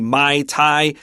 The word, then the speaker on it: Muay Thai: And then, with there, since there's a U there, I'd say Muay Thai, but I'm not really sure, to tell you the truth. Yeah, I will say this one pretty confidently. Muay Thai is what a lot of the guys really into martial arts like to say, because people that love